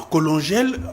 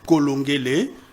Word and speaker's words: Colongé: le corriger parce que en colongel en congolais ça n'existe pas. OK. On est c'est le professeur Colongé. C'est comme ça que ça se prononce.